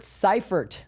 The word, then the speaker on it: Syfert: We've got Robert Ciphert. Did I pronounce that right?